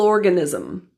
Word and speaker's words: organism: biggest single cell organism the stress in organism falls on the first syllable or with that curled Bunch back rodic R the G GA in organism reduces to G with the schw sound it's unstressed you the world world's